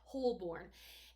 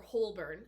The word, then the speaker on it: Holborn: are narrated so well narrator pronounces it wholeburn but it's spelled with two o's h-o-l-b-o-r-n so if i